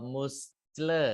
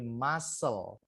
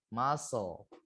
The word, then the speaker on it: muscle: Ini bacanya bukan ee muscle gitu ya, tapi muscle. C-nya enggak usah dibaca ya. C-nya enggak usah dibaca jadinya muscle. Muscle.